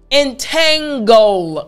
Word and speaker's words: entangle: now this word is it's pretty simple to pronounce but there's one part that you might need help with entangle goal that last part it's the goal goal